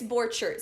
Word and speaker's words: Borchert: It's Borchert, so it's Swiss.